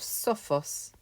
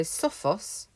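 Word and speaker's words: σοφός: standard adjectives you have sophos and denos nice straightforward first and second declension adjectives in the comparative these change slightly so sophos has a short o it now gets a long or dinos has a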